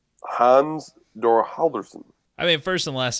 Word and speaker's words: Halldórsson: Hans Thor Halldorsson. I mean, first and last name are about correct. The middle, you're not going to get. It's Thor. Just pronounce Thor. Hans Thor Halldorsson.